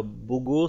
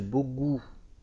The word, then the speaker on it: Bogu: Sinon, le nom du marchand, c'est pas Bogo, c'est Bogu. Oui. Bogu. Un U. Qui se prononce où.